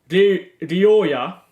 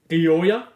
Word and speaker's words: Rioja: And like the or the J in Spanish is a H. So like, let's say Rioja is on the pitch, right? 22 for Valencia. Rioja.